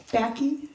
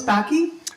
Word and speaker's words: Baki: encourage transparency Mr Becky is that did I say it right you're close close backy yeah my name